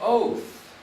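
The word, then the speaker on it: אות: sign, a symbol, an oath. Now the word aleph, vav, tav, the aleph is silent, the vav sounds like an O, and the T is sounds, it is literally pronounced as the word oat.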